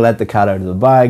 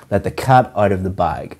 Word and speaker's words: let the cat out of the bag: The pronunciation of this is to stress or emphasize cat and bag. Let the cat out of the bag.